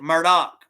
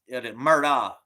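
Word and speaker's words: Murdaugh: instead of u it's au murdoch but they pronounce it murdoch but it's murdoch m ur d a u g h you close you it sounds like that.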